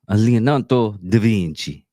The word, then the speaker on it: Leonardo da Vinci: Yeah, sometimes if I actually know how to pronounce it and everything, I'm gonna probably do it in the country of from. Leonardo da Vinci. You have to say it like that.